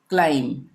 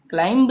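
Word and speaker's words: climb: उसी तरह से बॉम्ब, थम, लिम, क्लाइम, क्लाइंब नहीं बोलेंगे, क्लाइम, ठीक है, ये इसका उच्चारण नहीं होगा।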